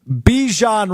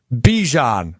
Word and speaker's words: Bijan: Bijan Robinson, the star running back of the Atlanta Falcons, joined NFL Network this weekend to bring some attention to a pressing matter regarding Bijan Robinson.